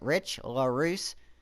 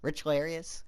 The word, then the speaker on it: Richlarrousse: I think you guys have been, telling me that's how you pronounce it. Richlarrousse. Sorry, Richlarrousse, that I haven't been saying it right, but, Richlarious kind of sounds fire.